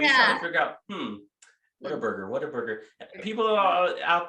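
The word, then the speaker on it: Whataburger: What a burger. I said what a burger. What? You say water burger. What a burger.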